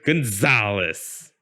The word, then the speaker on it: Gonzalez: lot of potential in the second syllable of my last name that za i feel like that's